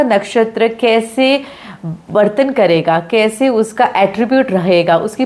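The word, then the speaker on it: Cheiro: कि western world से mister कीरो या शिरो व्हाट एवर यू प्रोनाउंस ट सो आई pronounce it personally कीरो Sheldon okay यह आए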